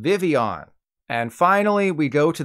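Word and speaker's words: Vivillon: Charlie Hunnam and Rami Malek this is called Vivion and finally we go to the end of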